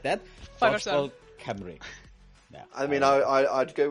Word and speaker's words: Cymru: But yeah, Dodgeball Camry, which uh is phonetic in the Welsh language, but I can see how it's probably confusing having a U pronounced as an I, but yeah, Camry is how we'd pronounce it.